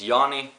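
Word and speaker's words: Jami: so the start of my name is Yanni and it's spelled like J a M I and I am from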